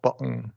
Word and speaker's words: button: Okay, button. Yeah. Button. Yeah, button. Okay. That's correct. That's exactly right. Right. And that's just T vowel N if that syllable is not stressed.